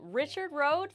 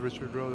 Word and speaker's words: Richard: Yeah, just like the anglicized pronunciation?